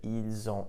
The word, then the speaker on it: ils ont: You'll also notice that when I pronounced it, ils ont, elles ont, the S in il, elle, which is normally silent, was actually pronounced, and I pronounced it like a Z.